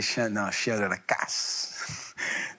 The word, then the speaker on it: Chien de la casse: Et Chien de la casse. Moi, il se prononce comme ça, il faut bien insister.